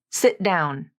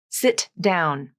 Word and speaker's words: sit down: begins with a consonant this phrase will almost always be linked using a stop te in the first word sit sit down not sit down if I use the